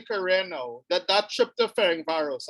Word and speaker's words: Ferencváros: John, early in your career now, that trip to Ferencváros, I pronounce that correctly, in Hungary? Yeah, Ferencváros.